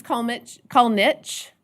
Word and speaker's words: Kalnins: Mrs. Kalnich, and no, it doesn't look like Kalnich, but that's how we say her name.